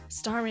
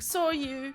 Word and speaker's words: Starmie: I was a kid, Starmie and I still just star you. I never pronounced its name right. I always end up saying, saw you.